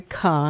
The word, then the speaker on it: Kah: I'm talking for the hour with Kah.